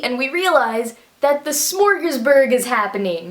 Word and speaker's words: Smorgasburg: And all of a sudden, we see and we realize that the smorgasburg is happening. That probably sounded like I was trying to say smorgasbord and pronounced it wrong, but I didn't.